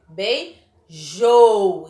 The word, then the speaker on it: beijou: Quando a última sílaba, ela for a mais forte, ó, jou, da palavra beijou, ó, beijou.